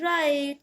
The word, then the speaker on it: write: WRITE, राइट। जो आप लिखते हो, राइट मीन्स लिखना, और राइट में भी W होता है साइलेंट।